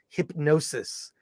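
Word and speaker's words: Hipgnosis: film it's hip g-n-o-s-i-s it's actually pronounced hypnosis it is the story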